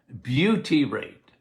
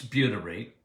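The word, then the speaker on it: butyrate: couple of weeks ago I think on uh Beauty rate okay how do you spell it bu t uh y r a t what is beauty rate okay well butter makes buty rate very anti-inflammatory very good for your microbiome when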